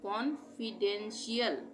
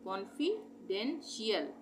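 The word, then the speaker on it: confidential: उच्चारण होता है शियल ये जहां पर भी टी आईल होगा वहा पर हम इसका उच्चारण शियल करेंगे यल यानी कॉन्फिडेंशियल कॉन्फिडेंशियल कॉन्फिडेंशियल कॉन्फिडेंशियल कॉन्फिडेंशियल तो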